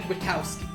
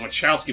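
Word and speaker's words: Wachowski: are Tom and Maddie wowski let pronounced wow not wowow yeah I was Wonder the impression it was wowski but like I rewatched the movies like oh the H is silent wowy original yeah I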